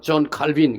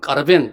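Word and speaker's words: Calvin: 목사님들이 이름을 하니까 받다 요한 칼빈 영어서는 사람은 존 칼빈 그라고 프랑스 사람들은 까르뱅 그렇게 발음을 하는데 이요한 칼빈 선생님은 프랑스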